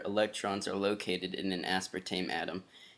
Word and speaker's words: aspartame: Well, aspartame, actually pronounced aspartame, is an aqueous substance which people often add to such liquids as diet sodas or tea.